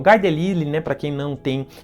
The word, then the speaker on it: Guy Delisle: Do Guy Delisle, como costumam pronunciar, porque ele é francês.